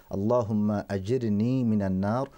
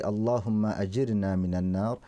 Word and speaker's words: Allahumma ajirni minan nar: very good supplication, and the more correct pronunciation for this invocation is Allahumma ajirni minan nar, or you can say Allahumma ajirna minan nar, and it means that